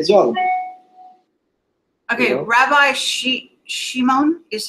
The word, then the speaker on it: Shimon: Rabbi Shimon is how you say it.